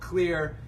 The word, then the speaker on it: Xlear: and we're here with shad and Cody from clear now the cut that you may know that company as X layer but let's debunk that right now the company is actually called clear the X is a silent sea right so